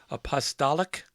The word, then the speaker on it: Apostolic: illuminators Armenian holistic apostille list how do you say that word Apostolic Apostolic apostolic seed rolls talent over on the